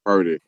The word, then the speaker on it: Purdy: change his name because his name rhymes with turdy.